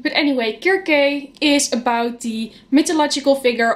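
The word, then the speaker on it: Circe: of all I've heard people in English mostly pronouncing this as Cersei but back when I had Letson and Greek in high school I was told it's pronounced as jerky so I'm going to do dead like pronounce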